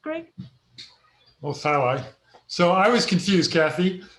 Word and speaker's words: thalli: Craig Mueller inquired, are tally perennial? If so, can they be long-lived? Are which ones? Tally. How is that pronounced, Greg? Oh, thalli.